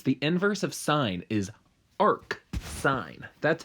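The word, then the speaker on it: arcsine: so for instance the inverse of sine is arc sine that's how you say it verbally so the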